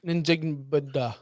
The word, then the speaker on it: Njigba: Hold on. N-Jig-Ba. It's literally African dialects are very much pronounced as it looks like.